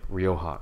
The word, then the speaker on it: Rioja: get a bottle of Rioja RI o JH Rioja you can say it the J's pronounced like an H you're good and then you have stored like you have Rioja and they point over